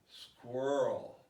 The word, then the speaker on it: squirrel: it before i said go ahead mr student squirrel swirl squirrel very good this is the number one most